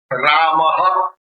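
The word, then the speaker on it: Rāmaḥ: How you pronounce it? Ramaha.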